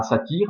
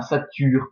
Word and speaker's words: satyre: Donc, les mots grecs avec un U dedans, avec un Y, se prononcent normalement U. Donc, on ne dit pas un satyre, mais un sature, par exemple.